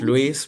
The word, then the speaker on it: Luis: Wait, but I am Louis, so it's easier to say Lewis than Louise. say Louise. Like the the correct Spanish pronunciation of my name is Louise.